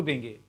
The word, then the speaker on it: the: जब हम किसी चीज पे जोर देंगे, व्हेन वी ले emphasis on something, देन our pronunciation should be दी।